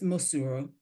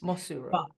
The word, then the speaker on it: Mosuro: we pronounce your name so my dad would pronounce it and he's he would if he was still here he'd laugh at this and be like that's actually not how I pronounce it but it's muru that's how it's said Muro yeah but I say Muro Muro okay so Muro or Muro yeah both are acceptable for you yeah but I have